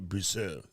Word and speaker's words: Brousseau: Some people don't know how to say her name, but I watch ice wrestling, a.k.a. hockey, so Brousseau is how you say it.